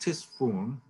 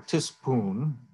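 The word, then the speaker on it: Ctesiphon: We use the Greek name, which has a very archaic spelling, starting with a K or C, a hard C. But the name of the place was actually just Tisfun or Tispoon. They don't have an F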